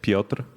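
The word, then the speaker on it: Piotr: So, my name is Pra. Uh, it's P I O T R. I was actually going to spell it that way.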